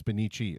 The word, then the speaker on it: Bonnici: The single C in Italian, is it like a S, like an S sound? So it's Bonnici? And if it's a double, it's Chi, or is it Bonnici? It's Bonnici. Okay, see? So I said it wrong. There we go. I was taking the single C as the S sound.